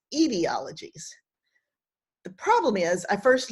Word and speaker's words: etiologies: some errata for you i keep saying etiologies but this word which means an origin story should be pronounced ideologies the problem is i